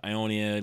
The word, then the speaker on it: Ionia: right Ionia cuz like it was close to like ion but it's not ion it's Ionia League of Legends Ionia